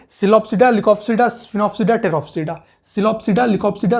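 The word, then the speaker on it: Psilopsida: Pteridophyta में ऐसे देखेंगे, सिलोप्सिडा, लिकोप्सिडा, स्फिनोप्सिडा, टेरोप्सिडा। इसका पी साइलेंट है तो इसको कोई भी पी सिलोप्सिडा नहीं बोलेगा, ठीक है, फिर उसके लिए मैं रिस्पॉन्सिबल नहीं होगा, बच्चे उसके मजे लेंगे।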